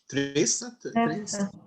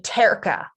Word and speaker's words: terça: thingy on the end, the C with the little tail. Terça. That makes it like a soft C sound. Without it, when there's I think it's between just like this. If it was just this, it'd be terca. Terca. So that makes it an S sound, yeah.